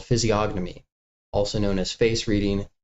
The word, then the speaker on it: physiognomy: A lot of people dropped the G. It's It's fine. It's Greek.